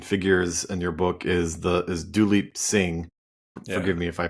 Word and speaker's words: Duleep Singh: So one of the most interesting figures in your book is Duleep Singh. Yeah. Forgive me if I pronounced it wrong.